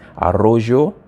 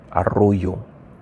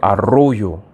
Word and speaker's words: Arroyo: of listen very closely to know if it's arrojo or Arroyo sorry I just when I see the LL I pronounce it as a g that's but it's usually pronounced like a like a y Arroyo so Arroyo we have Diaz as you see um Diaz